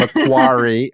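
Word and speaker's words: Macquarie: of business manager at mcquery University did I pronounce it right mcari yeah mcari University Australia with over 60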